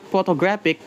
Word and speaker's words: photographic: For example, in the word photographic p stress falls into the first syllables, but learners might stress the second or third syllable instead.